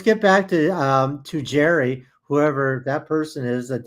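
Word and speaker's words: Gerry: It's not Gary, it's Jerry.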